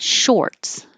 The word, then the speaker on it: shorts: And shorts, looks like OR, sounds like OR.